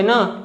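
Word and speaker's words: knee: जो लेटर के है अगर वर्ड के स्टार्टिंग में आ रहा है और एन के पहले आ रहा है तो के साइलेंट होता है, जैसे कि नॉलेज, नाइफ, नो, नी और नॉक।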